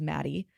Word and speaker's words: Mattie: family, her name was Maddie, which her name is Maddie, but it's spelled Mattie.